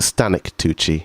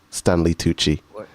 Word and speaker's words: Stanley Tucci: Is it Stanley Tucci or is it Stanic Tucci? I don't know how to say his name. Stanley Tucci.